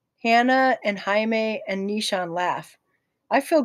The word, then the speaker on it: Jaime: I think this might actually be pronounced Jaime, if it's Spanish.